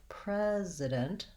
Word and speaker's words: president: which is which because the main difference is simply voicing and also because the spelling isn't very straightforward so the voiceless sound spelled with c the voiced z sound spelled with s the only other difference